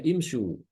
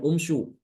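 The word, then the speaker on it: امشوا: ya tiga ke atas jadi bacanya imsu bukan UMSU maka di sini kalau seperti ini ini tidak dibaca animsu eh tidak dibaca anumsu ya I tapi animsu sama kayak hafz karena aslinya itu adalah imsu imsu ya Untuk meringankan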